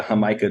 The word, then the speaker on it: jamaica: and I think a hamica drink nice which I don't know exactly what fruit that is I know it's called Jamaica it's delicious yeah it spelled like Jamaica it's it's fantastic Orchard